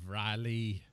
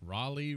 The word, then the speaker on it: Raleigh: the road pirates of Riley right how do you say it Rolly Rolly Rolly Rolly say Riley to tick them off nothing against the people